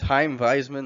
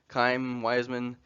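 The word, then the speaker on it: Chaim Weizmann: to fill this role his name is Heim Wiseman that's how we say it you can call him kaim Wiseman Truman called him Cham because he didn't know how to say his word say his first name uh he was born in Poland in 1874.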